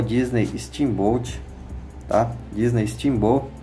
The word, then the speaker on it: Steamboat: tá que é o Disney steam-boat tá Disney Timbu é na verdade é a pronúncia aqui quer dizer barco a vapor tá